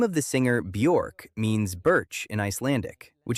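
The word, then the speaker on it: Björk: In addition, the correct way to pronounce it, according to her in an interview, is bure.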